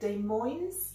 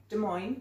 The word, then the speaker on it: Des Moines: from I don't know how you say it Des Moines there's my boy Des Moines des Moines in Idaho and he's married but